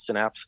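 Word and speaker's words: Cinapse: I write, and I'm also an editor at a site called Synapse, and that's spelled C-I-N like cinema, A-P-S-E, and I've been doing that for several years now.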